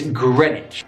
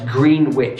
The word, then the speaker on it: Greenwich: stations to pronounce it's Greenwich now this is often mispronounced as green witch in the second part